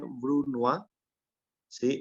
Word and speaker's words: brunoise: es este corte que básicamente se lee Bruno sí es un corte en